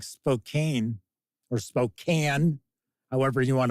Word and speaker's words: Spokane: want to pronounce it I would always call it Spokane but then I had people there tell me no no it's Spokane and I was like oh okay all right you live here W